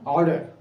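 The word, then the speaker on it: ardour: এই দেখো আরের উচ্চারণটা কিন্তু হয় না, এই উচ্চারণটা এরকম অনেকটা এরকম হয়, অর্ডার।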